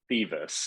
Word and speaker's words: Thiewes: We've already- It's pronounced Thiewes. It's German, at least we're Ah, pretty sure.